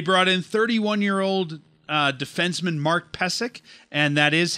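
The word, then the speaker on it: Pysyk: They brought in 31-year-old defenseman Mark Pesek, and that is how it's said on the NHL media site.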